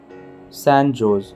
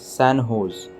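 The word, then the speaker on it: San José: in the u.s recently sanjo's pronounced as sanho's state university of which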